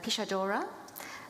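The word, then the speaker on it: pixadora: Eneri is a Pishadora, a practitioner of Pishu. Am I pronouncing that correctly?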